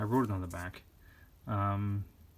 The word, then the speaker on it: Chthon: But this is actually the first appearance of, how do you pronounce the name? I wrote it on the back. Chthon, Chthon.